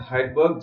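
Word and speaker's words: Heidelberg: the empty streets of hydaburg it's pronounced as hide work Germany to check on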